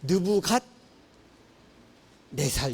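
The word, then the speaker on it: 느부갓네살: 시라고 할 때 자꾸 느부 갓살 막 이러는데요 그냥 편하게 세개 두 개로 나누시면 돼요 부갓 네살 이렇게 보면 아주 편합니다 그래서 그래서 예전에 저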